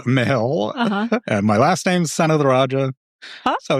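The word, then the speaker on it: Senathirajah: Son of the Raja. It's like Son of the Raja.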